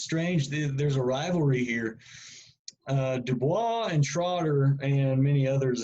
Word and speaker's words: Du Bois: Du Bois. That's French. He's American, but he's got French ancestry, so that's how you pronounce his last name.